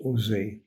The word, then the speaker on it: OSE: France cared for by ose pronounced Jose a French Jewish welfare